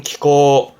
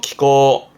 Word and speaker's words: 気候: 이게 기후, 발음은 키코, 음으로는 코죠. 키코.